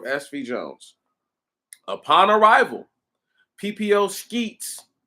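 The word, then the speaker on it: Scheetz: Jones upon arrival PPO Skeets I said I said sheets earlier but this guy's name is spelled listen this dude's name is spelled s-c-h-e-e-t-z skeets contacted Packard Kai or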